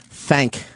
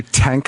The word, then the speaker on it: thank: Thank. That was another thing. I don't think I pronounced the H in thank a lot. Did you just say tank a lot?